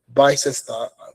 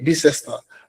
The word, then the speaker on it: Bicester: This is a cybersecurity analyst Bicester. That's, I'm pretty sure that's how they pronounce it. Okay, Bicester.